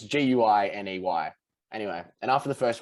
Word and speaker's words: Guiney: Like it's Guiney. Anyway, and after the first week, she pronounced it wrong.